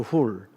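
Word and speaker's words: Hur: 원래 훌이라고 읽어야 돼요. 훌.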